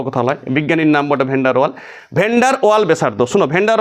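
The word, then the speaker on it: Van der Waals: আমি লিখছি ভিডি রেডিয়াস, তুমি উচ্চারণ শোনো, ভ্যান্ডার ওয়াল ব্যাসার্ধ, ভ্যান্ডার ওয়াল ব্যাসার্ধ।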